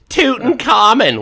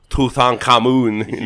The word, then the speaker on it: Tutankhamun: like it's just like americans saying tootin common when it's tutankhamun yeah nobody says that